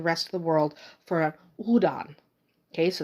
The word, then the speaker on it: Houdan: of the world for Udan okay so the H is almost an accent regardless of how you pronounce it it doesn't matter that much so if you have someone saying Howen or hudan this is the breed